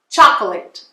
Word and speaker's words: chocolate: você vai ver que o que tiver entre parênteses você não vai pronunciar. Então, ó, chocolate, chocolate, tá? Você não vai pronunciar esse chocolate, não.